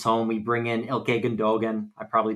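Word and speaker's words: Gündoğan: We bring in Ilkay Gundogan. I probably butchered the pronunciation. On a free Gundogan. Yeah, no, that's right. That's right, dude. Gundogan.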